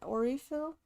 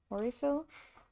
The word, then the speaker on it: Aurifill: Aurifill? Aurifill? That was Aurafill. Yeah, I think that's the American way to pronounce it. I don't think the Italians pronounce it the same way.